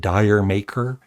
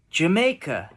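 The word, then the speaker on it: D'yer Mak'er: know i' i' in the past I've said dire maker but it's actually here's how I play the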